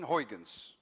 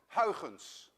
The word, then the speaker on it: Huygens: Actually, a Dutch person would pronounce it as Huygens, but you don't have the ui in your language, and you don't have the ch, let alone that you can say Huygens.